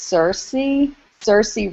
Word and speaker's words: Saoirse: I think it's Saoirse Ronan.